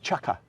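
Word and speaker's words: chukka: it is and that's a chucker how you pronounce that chucka chucka and that's Indian of course it is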